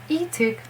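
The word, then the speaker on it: Leeteuk: So Eeteuk, that's how it should be pronounced. As most of the Korean names, it has 2 syllables, E and Tuk. E has a story why it's not Li.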